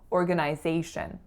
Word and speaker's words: organization: I grew up saying organization so as you can hear that third syllable in Canada is pronounced as a full eye whereas in the state's